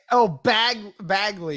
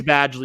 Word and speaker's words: Badgley: Bagley. Yeah. You called him Bagley. Badgley. It wasn't it? Was it Badgley? It's Badgley. You called him Bagley.